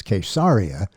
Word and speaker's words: Caesarea: road to caesarea Philippi the Hebrew pronunciation is quesaria but since most people use the Greek most people are familiar with the Greek pronunciation we'll use that caesarea caesarea Philippi he was dressed